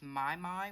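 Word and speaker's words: Mimi: And then there is also Carol is Crafting with My, which is spelled M-I-M-I, but it pronounced My.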